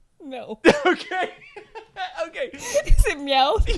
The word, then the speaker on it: Meowth: Pronounce his name again. No. Okay. Okay. Is it Meowth? It's Meowth.